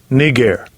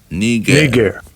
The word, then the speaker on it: Niger: Let's get the pronunciation. Strong's G 3526. Niger. Niger.